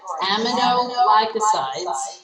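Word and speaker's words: aminoglycosides: to our kidneys what's the what's the category amino glycosides that's how you say it what do they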